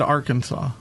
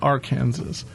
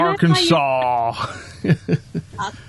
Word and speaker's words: Arkansas: I'm impressed that you said Arkansas and not R Kansas because it's one of those weird states like why isn't it pronounced R Kansas?